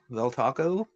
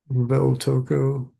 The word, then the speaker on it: Valtoco: um, seemed okay was yeah, Naselium and Valtoco Valtaco. Valtoco. Yeah, I don't know how to pronounce that.